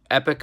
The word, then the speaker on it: Epoch: It's called Epic Eyewear. It's spelled EPOCH Eyewear.